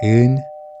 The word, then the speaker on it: 은: So instead, we use 은, which doesn't block the airflow.